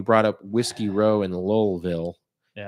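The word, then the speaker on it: Louisville: You brought up Whiskey Row in Lowellville. Yeah. They pronounce their L's in Kentucky. Lowellville.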